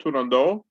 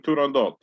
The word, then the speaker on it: Turandot: And then we have Turandot, and which sometimes the O is pronounced Turandot, sometimes Turandot. It's done both ways.